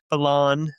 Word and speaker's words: Belon: Wes Balain.